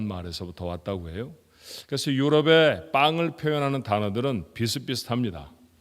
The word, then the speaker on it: pain: 그래서 유럽의 빵을 표현하는 단어들은 비슷비슷합니다. 프랑스어로는 영어 철자로는 PAIN이라고 쓰고요. 우리하고 똑같은 발음 빵 그렇게 읽습니다.